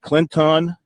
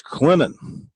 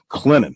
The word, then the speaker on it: Clinton: It's not Clinton, it's Clinton. Just sort of flows from the N to the T. Those of us experienced in South Carolina, we know the proper way to say the town, Clinton.